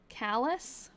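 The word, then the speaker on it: Calais: It's pronounced Callus.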